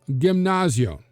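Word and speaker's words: γυμνάσιον: Most athletic practice and this choral line dancing was done at a Gymnasion. Yes, we would say the gymnasium, but it would have been pronounced Gymnasion, literally the naked place.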